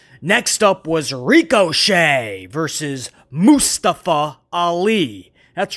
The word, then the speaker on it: Mustafa: So basically, if you were to spell it like a cow, M-O-O, Mustafa.